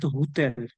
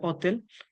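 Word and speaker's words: hotel: তার মানে আমরা যদি আক্কাটা আছে ঠিক আছে কিন্তু আমরা যদি উচ্চারণ না করি তার মানে এর পরেরটার উচ্চারণ করতে হবে তাইলে অতেল তাইলে এটা হয়ে যাবে অতেল অতেল মানে হোটেল যেখানে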